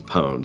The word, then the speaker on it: pwned: No, it's a play on the word owned, like the password's been owned, so it's pwned.